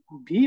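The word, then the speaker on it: W: ওকে, ডাব্লিউ যে উচ্চারণ সেটা হয়ে যাচ্ছে ভে। হ্যাঁ, ভে, লিটারালি ভে, মানে ভি এর যে উচ্চারণ সেটার মতো হয়ে যাচ্ছে।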